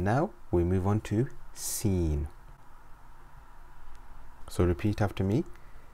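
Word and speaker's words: سين: we move on to scene so repeat after me seen scene scene scene makes a whistling s sound like the hissing of a snake so repeat after me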